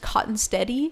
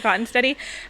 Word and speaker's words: Kottenstette: it cotton stead and half the family pronounces it cotton steady and we're just part of the half of the family that pronounces it cotton steady but I like cotton